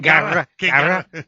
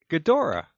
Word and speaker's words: Ghidorah: King Gara. Because I can't pronounce the damn guy's name. I mean, this is... You got King right here. See? King, you pronounce that. Ghidorah. All right, King Ghidorah. You want to say that? If you want to say it in the right way. If you want to say it correctly, fine.